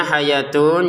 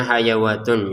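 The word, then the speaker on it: حياة: ha fil qisosi hayatun tulisannya hayatun ya kalau kita tidak jeli akan membacanya hayawatun ya padahal di atasnya wau ini bukan harakat ini bukan harakatnya wau ya wau tidak punya harakat Ini adalah alif kecil untuk siapa?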